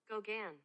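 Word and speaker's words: Gauguin: like hear how it's are you ready yeah Gogan Gogan okay I wasn't too far off um so there was a time that Gogan came to study with Van Gogh and that's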